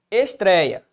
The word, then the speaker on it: estreia: Qual que é a sílaba tônica de estreia? Bom, tá bem aqui, ó. É a penúltima sílaba. Então, estou diante de uma paroxítona.